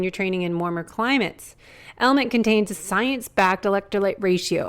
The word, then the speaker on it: LMNT: of our sponsors lmnt element it's spelled l MNT but pronounced element if you haven't heard